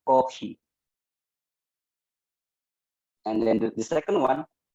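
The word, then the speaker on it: コーヒー: For example, coffee, they will pronounce kohi.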